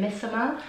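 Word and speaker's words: Missoma: You pronounce it Misoma.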